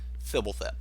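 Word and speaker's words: Fblthp: I've heard so many different pronunciations of it, but I pronounce it the way Mark Rosewater did, the way that Marshall Sycliffe does. Fibblethep.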